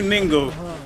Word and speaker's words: Ningo: This is not Prom Prom, this is New Ningo. But across the street is Prom Prom and going back that way. But we're actually in New Ningo, N-I-N-G-O. Rhymes with bingo with the N.